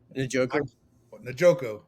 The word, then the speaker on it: Njoku: How do you pronounce his name? Njoku.